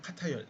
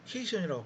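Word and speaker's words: cation: 그래서 양이온을 이름을 카타이온. 여러분 이거 케이션이라고 발음하면 안 됩니다. 절대로 카타이온이에요.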